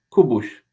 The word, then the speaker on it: Kubuś: How does she really say Jacob? Well, Kubuś.